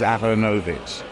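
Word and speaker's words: Aaronovitch: and I found that if you pronounce it in the kind of vaguely fake Slavic way which is aranovich right people don't make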